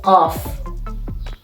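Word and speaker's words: ق: The 24th letter is qaf. Qaf is pronounced like q, which we don't have these sounds in English. But again, in French, we have this, for example, in the word merci.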